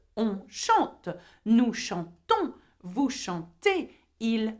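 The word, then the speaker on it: chantent: Vous chantez. IZ. And il or elle, which means they, by the way, chante. Okay, E-N-T. Now, though there is E-N-T, you do not pronounce the N and the T.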